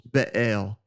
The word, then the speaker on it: Baal: So when you see the word baal, it's b a e l. Some people will do that as uh two syllables be al and then usually the